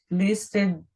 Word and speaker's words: listen: o sul e o listen to you mother Listen Listen ST ST gente é mudo ele não ele não tem ele não tem deixa